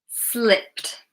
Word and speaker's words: slipped: Slipped, slipped. Okay. It's tuh again.